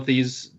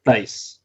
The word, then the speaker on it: Theis: was a good Daniel Thies. Daniel How do you say Theis. it? Daniel Thies wouldn't have been Theis, sorry. Theis.